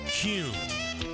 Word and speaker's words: Kuhn: And now, I'm going to share the absolute right way to pronounce Kuhn flowers. It's Kuhn.